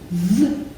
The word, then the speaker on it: veg: So veg, v-e-g. veg. That sounds like there's a j on the end, but it is not a j, it's actually a g.